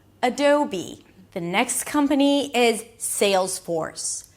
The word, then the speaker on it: Adobe: And then you ended up with be, as in this is who I want to be. A B sound and a high E. Adobe. Adobe.